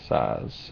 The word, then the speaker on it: Szasz: recommend that you buy books by Dr Thomas saz and his last name is spelled s-z-a-s-z um he passed away this year at the age of 92.